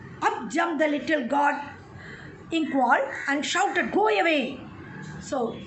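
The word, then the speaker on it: Nqong: So we can pronounce it as inkwall. The pronunciation it is given there.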